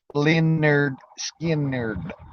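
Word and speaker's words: Lynyrd Skynyrd: there Man Simple Man Leonard Skinner from the the uh album I believe it's pronounced linerd skin nerd yeah simple man man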